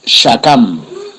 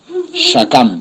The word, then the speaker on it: shakam: Bueno, la palabra hebrea para sicómoro es shakam. Shakam, se escribe S-H-A-K-A-M.